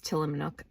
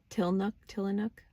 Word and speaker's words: Tillamook: You get guidance, and it's like, oh yeah, get the mudslide till, I call it Tillamook. I know I add an extra syllable. Where's the syllable? Tillanook, whatever the fuck.